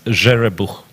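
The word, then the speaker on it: Zherebukh: That's a Ukrainian name, and the guy, he is Ukrainian, even though he is representing the United States. It's Jerebuch. I'm very glad you said that.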